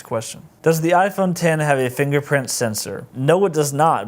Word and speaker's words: iPhone X: and then I work is the iPhone 10 pronounced iPhone apps or iPhone 10 this is a question that baffle is a